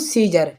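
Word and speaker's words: Caesar: सीजर तो आप इस सीजर में देखें सी ई ई से बाद में आया है ए तो यहां पर ए क्या है ए साइलेंट है ठीक है तो इसके लिए बोलेंगे हम सीजर ठीक है सीजर माने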